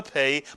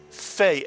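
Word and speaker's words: פ: Without a dagesh, the Pei is pronounced as an F, and therefore we call it a Fei.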